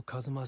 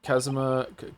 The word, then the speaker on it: Kazuma: I feel like I say his name wrong every single time and they just said it a bunch of times and I still can't stop saying Kazuma. Kazuma. Kazma. Kazma. Kazma is fine.